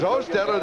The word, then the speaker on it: Hostetler: Because Hostetler, the backup quarterback, which is the correct pronunciation of his name in case somebody wonders, we double-checked that.